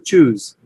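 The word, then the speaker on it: chews: ইফ এ ডগ, আমরা এটাকে চিউ বলে, আসলে চিউ উচ্চারণ হবে চুজ, মানে চু থেকে চুজ, এটা জ বাজিং সাউন্ড।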